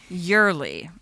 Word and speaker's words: Yoeli: You're supposed to pronounce that Yurli, according to Michael and Kate.